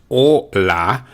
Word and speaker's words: hola: bit first of all i have the spelling which is h-o-l-a but if you hear the pronunciation is o la the h is silent that's why we've blued